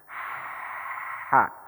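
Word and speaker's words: ح: Yang pertama perhatikan keluarnya dari kerongkongan bagian tengah. Yang kedua sifatnya itu mengalir nafas. Ha.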